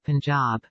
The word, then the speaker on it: Punjab: day from the Punjab you must pronounce it Punjab the handwriting was excellent